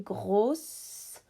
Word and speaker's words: gros: So you could say, for example, a big house, because house is feminine, grosse maison. If it was an apartment, which is masculine, it would be gros with a silent S.